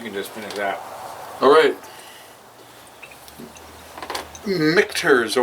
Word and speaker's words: Michter's: Michters or Michters. Michter's. What? Michter's. Michters. That's what I first said. Yeah. You said it right the first time.